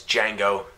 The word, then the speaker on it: Django: it all right its Django with a third day did django django oh wait the D is silent yeah right the dear